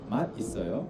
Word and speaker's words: 맛있어요: So many of my 맛있어요. foreign friends who are learning Korean like yourself, they say 맛 있어요, but how should you pronounce it naturally?